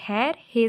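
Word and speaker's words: خیرخواہ: हे ज़बर ये रे हैर, हे ज़बर वाव अलिफ हे, तो इसमें वाव को हम नहीं पढ़ेंगे, तो बच्चों ये क्या होगा, हैर हा वो, वाव है वो,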